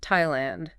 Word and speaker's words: Thailand: It's much rarer where the th is simply pronounced as a hard t.